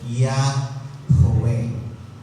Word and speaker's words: Yahweh: And that is pronounced Yahweh. Or the old, may dalawa, Yahweh, Yahweh, Yahweh, ang kanilang pronunciation.